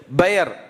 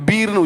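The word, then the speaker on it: באר: ஊற்றுன்னு அர்த்தம் சொல்லுங்க உடன்படிக்கையின் பெயர் பி இஆர் பி இ பி இ ஒரு ஐபன் வச்சு இ ஆர் பயர் அப்படிதான் உச்சரிக்கணும் பீர்னு உச்சரிக்க கூடாது பீர் லக்காய்ரோயி இல்ல பெயர்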